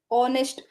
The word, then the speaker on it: honest: on is honest person we all know that when it is honest we'll read it in honest o h is silent here s right H